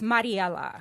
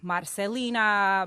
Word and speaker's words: Mariella: how you say it it's mariella okay right so i hated my name growing up because nobody could ever pronounce it and i grew up in south texas where it's predominantly i mean it's hispanic and so nobody could ever pronounce my name so i would get like marcelina marianella maricella i'm like oh my gosh it's mariella how can you not pronounce